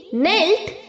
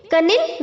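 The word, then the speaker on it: kneel: पता है ओके नील nailed nailed इसका भी के साइलेंट है हमें नील बोलना है ओके कनिल नहीं प्रोनाउंस करना है नील नील नेल्ड नेल्ड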